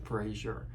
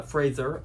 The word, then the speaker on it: Fraser: prefer the mummy with Brendan Frazier uh Fraser I apologize there is a correct way to pronounce that apologies um but what